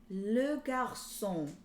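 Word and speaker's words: garçon: these is the boy le garcon so that little squiggle under the c makes it a s sound uh almost like an s right sometimes it'd be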